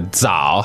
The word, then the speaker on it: zao: first syllable here, the zao. How do we spell that in pinyin? Z-A-O, third tone. Zao. Zao. Now, the Z in pinyin is not just a Z-Z sound. It's actually a D-Z sound, right?